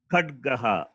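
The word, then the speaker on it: खड्गः: Khadgaha.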